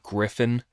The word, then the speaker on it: Gryphon: I'm pretty sure it's meant to be Griffin, but it's just not spelt the way that I would think Griffin is spelt.